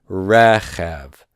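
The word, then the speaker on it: רכב: Standard accents on the end, on the final syllable, but if it's not on the final syllable, I'm going to see it marked with this symbol here, okay? And in this case, this is non-final stress, and so I've got the accent mark.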